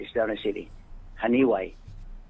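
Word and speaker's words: Janiuay: Haniway is a town. Right. It's down a city. Haniway. It's spelled JANAWAY. Haniway. It's JANIWAY. That's Haniway, Iloilo.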